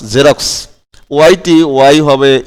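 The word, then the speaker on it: Xerox: হ্যাঁ আবার এক্সটা দেখো তার নিজের এক্স এর উচ্চারণ না করে জয়ের মতো উচ্চারণ হয়েছে এখানে, যেমন XEJ, হ্যাঁ এখানে এক্সটা কি হয়েছে জে হয়েছে, এখানে আর এক্স হয় নাই, এখানে এক্সটি হয়ে গেছে কি জে, হ্যাঁ XEJROX রক্স, জেরক্স।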